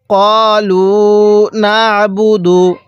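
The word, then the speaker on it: قالوا نعبد: ক্বালু না'বুদু। যদি আপনি আইনটাকে চাপ দিয়ে না পড়েন তাহলে অনেক সময় আইনটা হামজা উচ্চারণ হয়ে যাবে।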